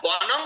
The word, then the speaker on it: বনং: ছিল উৎপল আচার্য মহারাজ যদি শব্দের পরে ব্যঞ্জন বর্ণ থাকে তাহলে বনম অনুস্বার হবে বনং আর যদি স্বরবর্ণ থাকে